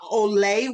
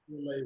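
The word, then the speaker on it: Orla: It was a painting, and you let's talk about Olay World. Am I pronouncing that correct? Orlá Worldwide, Orlá.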